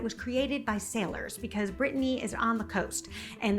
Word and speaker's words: Bretagne: And again, I can't even pronounce that, that is another hard French word for me to pronounce, but my husband says it much better. - Bretagne.